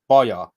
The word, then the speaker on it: Baja: of hungary which is ironically named boya spelled like baja yeah we got a